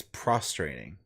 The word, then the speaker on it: prostrating: I suppose wait Pro how is that not pro it's just not how it's pronounced prostrating prostrating hmm it's it's prostrating that's the what's frustrating mean